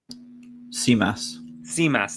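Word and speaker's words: Tzimas: I'm going to butcher the pronunciation. Is it Simas? Simas, thank you.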